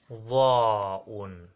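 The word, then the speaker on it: ظاء: After ta'un we have dha'un, dha'un, dha'un. Dha'un is the same as the, but different is this you must enlarge your mouth on it, but dhalun there is no need for you to enlarge your mouth.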